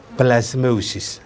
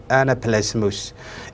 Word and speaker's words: anaplasmosis: cudurka maanta aan ka hadlayno waxaa la yidhaahdaa anaplasmosis that is the correct pronunciation ku dhawaaqidiisa saxi waa sidaa weyn marka waxaan oranaynaa anaplasmosis it attacks cudurkanu sida slidekan ku arkayna wuxuu